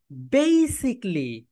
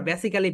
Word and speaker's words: basically: সবাই বলো বে সি লি। How many syllable? 3 syllable, তার মানে ট্রাই সিলেবিক ওয়ার্ড। এটা রাইট প্রোনাউন্সিয়েশন হবে বেসিকলি। বলো মাই ডিয়ার সোলজার্স, বেই, বেই সিক, সিকলি, বেসিকলি।